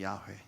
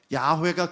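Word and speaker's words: 야훼: 그래서 지금 많은 학자들이 이게 진짜 발음이 뭔지를 알아내기 위해 열심히 노력하고 연구해서 가장 근접하다고 말하는 발음이 야회입니다. 야회. 들어보셨어요? 우리는 여호와라고 부르지만 야회가 근접하다는 거예요.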